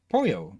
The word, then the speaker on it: pollo: art again let's see double I is pronounced with a Y sound so Polo is Pollo okay so like the